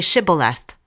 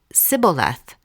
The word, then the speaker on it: Shibboleth: Say Shibboleth." If he said, "Sibboleth." because he could not pronounce the word correctly, they seized him and killed him at the fords of the Jordan.